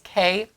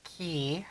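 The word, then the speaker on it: Cay: helps chick Clark says Kate or key however you pronounce it it's both it is both ah the pronunciation can be K or K but it's always spelled CA YK okay right except key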